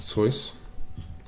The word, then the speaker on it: Seuss: I do believe it's pronounced Seuss.